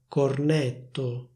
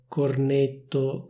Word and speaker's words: cornetto: In theory, the suffix -etto should be pronounced with a close é sound, so it should be